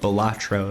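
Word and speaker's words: Balatro: bolaro please normalize well there's been some debate as to the pronunciation of the of the name whether it's batro or batro um people you know people have decided that batro is the way they want to say it for the most part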